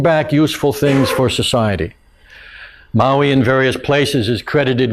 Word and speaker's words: Maui: Maui not the island Maui the uh the uh in fact it's Maui if you want to pronounce it right uh the uh